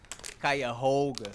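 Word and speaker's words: Cuyahoga: Good to see somebody here can pronounce it correctly. Let's do it again. Kaya Hoga.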